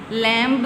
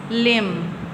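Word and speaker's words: limb: इसी तरह लैं लैंब नहीं बोलना लम इसी तरह क्रम लिम लिंब नहीं बोलना लिम इसमें भी इसी तरह से ही है।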